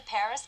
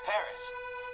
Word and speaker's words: Paris: wow so this is Paris I can't believe that I've never visited the capital of France before yeah well the locals pronounce it Pari Carmen's conducted a lot